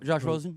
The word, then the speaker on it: Rosen: How do they pronounce it? Josh Rosen? Rosen.